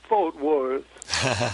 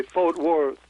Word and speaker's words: Fort Worth: sounded like Ornette was singing, "I'm going to Fort Worth." and that's the pronunciation that use here in Texas. They Fort Worth.